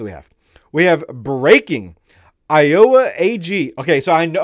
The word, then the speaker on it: Iowa: No, it's Iowa, okay? Iowa. Boom. 3 syllables. Not Iowa.